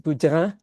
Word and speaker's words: Boudin: And in French, it's pronounced Boudin, but I'm saying Boudin. That's the American way to pronounce it, or the English way to pronounce it.